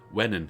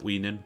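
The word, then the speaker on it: Wenhan: Wennen, he said. Not Weenan, Wennen.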